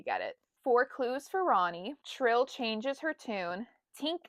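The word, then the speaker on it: Rani: I always pronounced her name Rainey growing up, but then I listened to an audio book and they pronounced it Ronnie.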